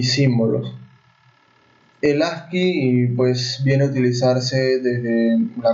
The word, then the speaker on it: ASCII: Código Estándar Estadounidense para el Intercambio de Información, pronunciado generalmente como ASCII.